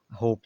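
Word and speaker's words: hope: Time में भी silent होप में भी ई साइलेंट है तो एच ओ पी होप हो गया खाली लेकिन यूज़ इसका होता है।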